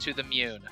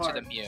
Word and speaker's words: To the Moon: It's pronounced To the Moon. I was thinking of Pokemon, so... I've only seen that word read, that word, you know, in print before, so I don't really know how to pronounce it. So I'm pretty sure it's To the Mew. I had Pokemon on the brain, so I was thinking To the Mew.